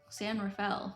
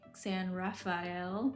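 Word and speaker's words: San Rafael: Like all the locals are going to say it like differently than the Spanish way. like uh San Rafale. It's It's like San Raphael, but it's like everyone from there calls it San Rafale.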